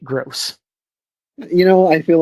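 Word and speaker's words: Grose: my friends from his they gr o se but I'm pronouncing it gross you know I feel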